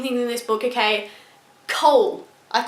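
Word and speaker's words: Chaol: I'm so bad at pronouncing things in this book, okay? Cole.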